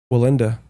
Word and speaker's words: Wallenda: We got to keep the Wallenda.